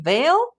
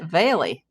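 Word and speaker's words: Vale: But is she Veil or is it Veily? Veil is her daughter's name. Perhaps Veile is a nickname. Yeah, cuz it's spelled V A L E, but I always thought it was pronounced Veil.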